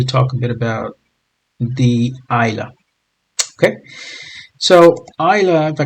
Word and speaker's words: Islay: And as you can see, it may look like it's Islay, but it's pronounced as Islay.